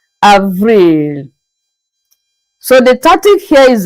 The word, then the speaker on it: avril: April is pronounced as Avril. Avril.